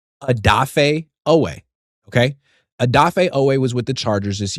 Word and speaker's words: Odafe Oweh: Odafe Oweh. Odafe Oweh. Okay? Odafe Oweh was with the Chargers this year.